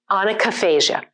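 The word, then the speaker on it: onychophagia: So this word is pronounced onychophasia.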